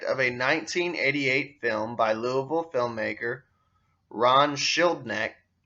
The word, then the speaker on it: Louisville: By the way, it's spelled Louisville, but here in Kentucky we call it Louisville.